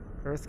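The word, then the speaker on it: Urth: I feel like I'm next to a place called Earth Cafe, one of my favorite places to eat. Earth Cafe is U-R-T-H. It's spelled differently.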